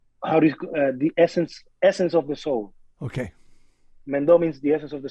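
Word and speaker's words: Mendó: Mendo. It spells Mendo with an accent on the O.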